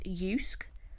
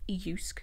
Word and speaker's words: Jysk: It's pronounced Jysk. The way you see it spelled, you would kind of pronounce it Jysk, but it is pronounced Jysk.